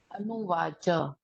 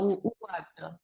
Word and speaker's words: उवाच: हलंत स्मरण स्मरण हां अनुवाच नहीं उवाच उवाच हां उवाच केवल और केवल हम आगे हसन हसन हम गलत उच्चारण कर रहे हैं।